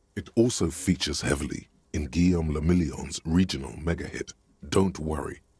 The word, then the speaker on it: Guillaume le Million: People made gold and champagne-tinted interiors, and for Revachol, your city, that meant only one thing: Guillaume le Million. If it doesn't rhyme, you're not pronouncing it right.